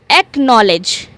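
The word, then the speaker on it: acknowledge: Then we are having एकनॉलेज। एकनॉलेज एकनॉलेज में भी क्या हो रहा है? सी और के साथ में आ रहे हैं।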